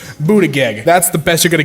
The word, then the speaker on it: Buttigieg: Okay, alright, I'm hooked on phonics style pronounce this last name. Buttigieg.